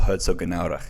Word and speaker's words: Herzogenaurach: Officially in a small town called Herzogenaurach. Okay. Wow, you've got that pronunciation down.